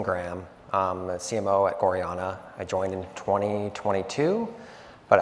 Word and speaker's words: gorjana: basically or women's jewelry um and yes it's pronounced gorana um but we were founded in 2004 in